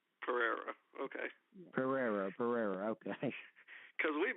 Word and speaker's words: Perera: Now, did he pronounce that right? He did Aja. It's Perera. Perera, okay.